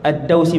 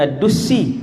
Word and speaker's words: Ad-Dausi: Hak tadi yang saya lupa saat ni, Tufail bin Amr Ad-Dausi, bukan Ad-Dusi.